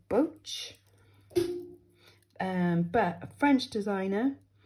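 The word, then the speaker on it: Boetsch: can't pronounce it because it almost sounds a bit German but it is so it's j and then the surname is b-o-e-t-s-c-h so boats um but a French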